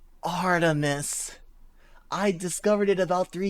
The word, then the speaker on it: Artemis: the blog of a female beater name Artemis pronounced Artemis I discovered it about three years ago and